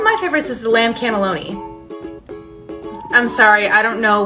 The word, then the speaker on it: cannelloni: It's called the lamb cannellini. Okay, respectfully, cannellini is a white bean. The pasta dish is called the cannelloni.